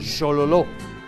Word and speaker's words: Xololó: El famoso arroyo balneario del Xololó contiene un digrama she, el digrama she. Entonces, esto pronunciamos xo, Xololó.